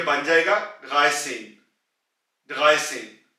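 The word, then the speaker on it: dreizehn: और यहां पे आप पहले 3 की आवाज निकालेंगे डगाए, और उसके बाद आप सेन की आवाज निकालेंगे सेन, तो ये बन जाएगा डगाए सेन, डगाए सेन।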